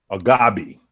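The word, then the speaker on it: Agbaji: Agabi.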